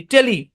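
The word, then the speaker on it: tele-: ও আরেকটা জিনিস আছে, টিইএলই, এটাও একটা প্রিফিক্স, টিইএলই, টেলি, টিইএলই টেলি, এটাও মনে রাখবেন, টিইএলই টেলি।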